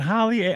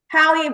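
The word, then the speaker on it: Halle: Is it Holly? I want to say your name right. H A L L E. How do you say it? Hie.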